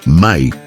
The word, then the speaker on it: Me: Textos sumerios mencionan repetidamente Me, pronunciado Mai, objetos físicos que otorgaban poder o conocimiento específico.